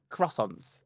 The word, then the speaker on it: croissant: Milky Way croissants or cross How do you say it? Croissant. Croissant. It's not how people say it with the R.